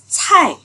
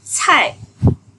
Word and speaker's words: 菜: Rồi từ tiếp theo, cài. Từ nãy bạn đọc bật hơi ha. Cài.